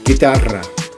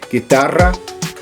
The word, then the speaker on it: guitarra: Now in Spanish, it's the same, but we have a different, pronounced different. Guitarra. So, guitarra, alright?